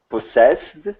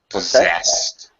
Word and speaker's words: possess: what an idiot sorry first one's a z sound the second one's an S possessed possessed okay all